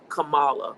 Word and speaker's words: Kamala: You look at this now in 2024, it's the mispronunciation intentionally. Kamala, right? KAMALA. These are subtleties that are intentional and they're divisive.